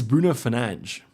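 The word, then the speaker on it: Bruno Fernandes: people on Twitter that Tagg me it is Bruno fange so I was saying it right but yeah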